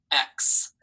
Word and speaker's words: ex: It sounds like you're saying the word X, right? Like the letter, but it is X, E-X. I hear X. And remember, that sounds like almost like KS together, but there is no S there.